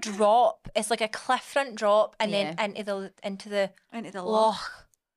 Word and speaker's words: loch: It's like a cliff front drop, and then into the loch. You have to say it like that. Loch. It's not a lock. It's a loch.